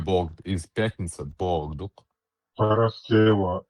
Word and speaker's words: Параскева: Параскева и Иконийская из пятницы, 3 век. Причем ногчи, не будучи православными, правильно, это почти по-гречески произносит этот день, а гаски говорят Прасковья.